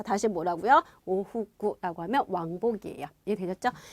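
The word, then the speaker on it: 往復: 오후구라고 하면 왕복이에요. 이해되셨죠? 그래서 요 발음은 여러분 복자도 되지만 다시를 의미하는 부자도 있거든요. 같이 연결해 두시면 알아두시면 되고요.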